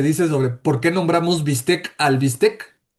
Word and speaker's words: bistec: ¿Han oído este este esta pequeña historia que se dice sobre por qué nombramos bistec al bistec?